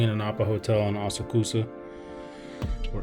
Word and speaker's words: Asakusa: I'm staying in an Appa hotel in Asakusa, or Asakusa, I think that's how you probably pronounce it, but this is my view.